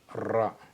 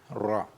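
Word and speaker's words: راء: Ensuite la lettre R en arabe s'écrit comme ça comme l'arc. OK ? Et on lit ça ro. Dal, dal ra.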